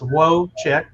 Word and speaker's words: Wojcik: questions for deb and her last name is pronounced woe chick like woh hyphen chick c-h-i-c-k i just had to